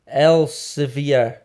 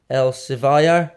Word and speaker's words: Elsevier: owned by these dudes elsevier i think is how you pronounce it elsevier el savayar maybe we'll go with elsevier right non-solus which seemingly